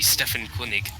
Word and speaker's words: Stefan König: It's the German spelling and pronunciation. The German spelling and pronunciation. Okay. Okay. Okay. Well, if you want to be really technical, my name would be Stefan König.